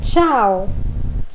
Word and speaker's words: ciao: Ciao, come va? Io Ciao, piacere. Io mi chiamo. Aí você fala o seu nome. Então lembrando que lá a primeira palavrinha, né? Ciao, som de ti.